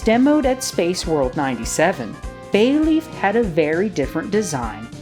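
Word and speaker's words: ベイリーフ: Bayleaf's Japanese name is also the same as its English one.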